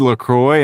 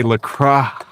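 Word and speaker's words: LaCroix: Anyway, these uh sparkling waters, this is a I said Lacroy and somebody said I said it wrong. They were like, "You got to say Lra with a H. LRA." So, I was like, "Okay, sorry. LRA."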